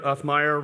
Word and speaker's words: Uthmeier: Uthmeier rhymes with Toughmeier.